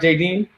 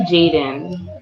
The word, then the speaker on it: Jaden: barbara jb is that did i say it right jd it's actually jaden that's it bless it